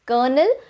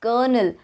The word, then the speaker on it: colonel: pronouncing this word because we hear it as kernel but the spelling is colonel so what is it so the correct pronunciation of this word is kernel there used to be an r in the spelling earlier but then it later got changed but the pronunciation remained the same so it is kernel kernel even if there